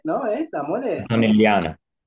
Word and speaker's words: Antonelliana: Así que sos de la mole Antoniale, ¿no? ¿Es la mole? Antonelliana, la mola antonelliana porque la hizo Antonelli.